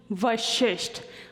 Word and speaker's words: Vashisth: your name my name is not pronounced are I was afraid that people would actually start calling me well the fact that they are correct is not the issue my name is pronounced vashisht when I give it